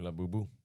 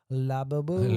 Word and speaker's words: Labubu: I was just gonna try to go off of a labubu. Laboo.